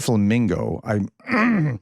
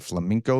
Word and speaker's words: flamingo: I said flamingo. People are correcting me and saying I'm saying flamenco, like the dancer.